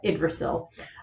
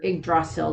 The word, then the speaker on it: Yggdrasil: King Drasil is a reference to Yggdrasil, or Yggdrasil, depending on which way you want to pronounce it, the world tree in Norse mythology.